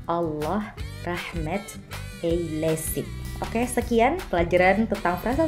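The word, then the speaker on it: Allah rahmet eylesin: eylesin Semoga Allah merahmatinya cara bacanya Allah Rahmat Kei Lesti oke sekian pelajaran tentang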